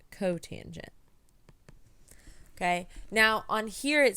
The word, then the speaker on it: cotangent: And then we have COT, which is the reciprocal of tangent, which is pronounced cotangent.